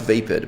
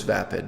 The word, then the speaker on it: vapid: on that word that I wish it were pronounced vape it but it's not the word is vapid not vape it I wish it were